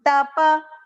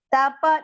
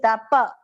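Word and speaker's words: तपः: Shariran Tapa. Tapa, not tap, it is Tapa.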